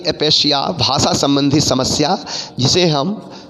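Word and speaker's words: aphasia: एक है अफेजिया। हालांकि डिक्शनरी में इसका जो मतलब कि उच्चारण है, इसका उच्चारण आपको अपेशिया है, एपेशिया। ठीक है, अपेशिया। प्राय आप इसको देखेंगे एपेशिया, एपेशिया।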